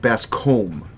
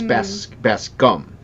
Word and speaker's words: Bascom: my last name like people pronounce it best comb like a comb like you brush your hair with and it's it's best gum that's gum yeah like